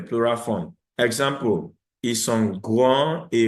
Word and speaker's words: grands: Example, ils sont grands et roux. The X is not pronounced, the S is not pronounced.